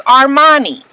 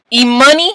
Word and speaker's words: Armani: It's A-R-M-A-N-I. Armani. That's what we say when we say their names, okay? So why is it that the goddamn parents don't know how to say the baby name? E-money? E-money? Like the fucking local weed carrier in your neighborhood? Why can't they say it?